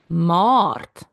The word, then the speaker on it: Maart: Maart. Maart. March is Maart. This one is easy because it's spelled exactly the same.